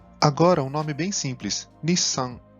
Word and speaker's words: Nissan: Agora, um nome bem simples, Nissan, com essa pausa na pronúncia entre o ni e o san.